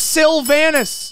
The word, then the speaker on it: Silvanus: sylvanas that's how you say his name it's sylvanas sylvinus x suit one star boom bam finally